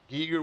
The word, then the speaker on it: Giger: So Giger would be the English pronunciation.